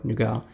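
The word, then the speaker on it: Nougat: have Android n or nugat or nuga nuga is basically how we pronounce it in uh Romanian but yeah this is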